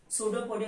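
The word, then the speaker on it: pseudopodia: सूडोपोडिया में याद रखो दिस पी इज साइलेंट।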